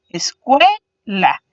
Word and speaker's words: escuela: Escuela. Entonces podemos visualizar que cue sería la sílaba que suena más fuerte, por eso está pintada en azul, y las dos restantes serían conocidas como las sílabas átonas.